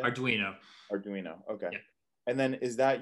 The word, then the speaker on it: Arduino: arduino yeah or how do you say arduino arduino okay and then is that usually using the